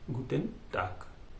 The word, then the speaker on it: Guten Tag: और यहाँ पे आप एक चीज़ याद रखना कि गुटेन में जी का गे किया है, जी यानी गे बोलते तो गे का ग हुआ है गुटन, और टाग में टे आ गे है लेकिन बोला जाएगा क, टाक, गुटेन टाक।